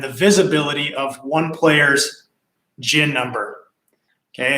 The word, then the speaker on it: GHIN: visibility of one player's gin number. Okay, it's just a modern security that they put in there. So in order for you to log into the GIN app, and that's spelled GHIN, stands for Golf Handicap